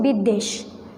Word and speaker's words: বিদ্বেষ: এই বটা যে অক্ষরের সাথে সংযুক্ত হবে সেইটার উচ্চারণটা দ্বিত্ব হবে, অর্থাৎ ডাবল হবে, সেজন্য আমরা বলছি বিদ্বেষ।